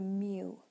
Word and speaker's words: mu: It's called a mu.